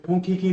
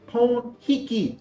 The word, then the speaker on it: Pon Hiki: I said, Punkiki no pipe. It's Pon Hiki with an H.